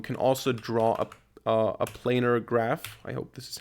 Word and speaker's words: planar: to do here um let me just Google how it's pronounced planer planar okay wasn't that wrong um